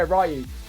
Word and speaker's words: Ryu: It's Ryu, but you can call me whatever you want.